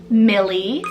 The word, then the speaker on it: Millie: and I love how it means King's Meadow Millie spell m-i-l-l-i-e Millie again another one that I've